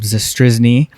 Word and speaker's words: Zastryzny: have another big leager on we've got Rob zne did I pronounce that correctly that's exactly right all right